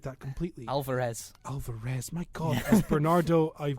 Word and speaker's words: Alvarez: debussey who is playing anita you have david alvanze oh sorry that is i butchered that completely alvarez alvarez my god bernardo i've got mike faced